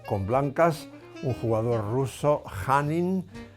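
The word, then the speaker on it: Khanin: blancas un jugador ruso hanin se escribe kh Pero esa kh se pronuncia j hanin y con negras nuestro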